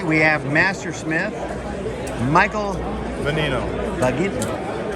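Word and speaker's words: Vagnino: Bagin. G is silent.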